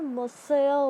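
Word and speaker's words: Monsieur: किसी को, तो वो लोग क्या बोलते थे, मोसेयर बोलते थे. यू can pronounce it, you will feel very happy to pronounce it.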